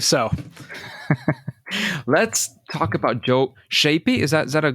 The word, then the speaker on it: Schaeppi: I I believe so let's talk about Joe shapy is that is that a decent way to pronounce it that works she yeah sheppy sheppy all right I'll try that he's a Visionary